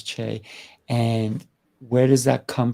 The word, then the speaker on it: Chaix: asked you earlier and how do you say your middle name and you told me it's Che and where does that